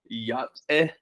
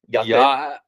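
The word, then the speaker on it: Yá'át'ééh: Yate. Yate. So you say ya, Yate. Yeah, but you don't say the T. You say the T on the T.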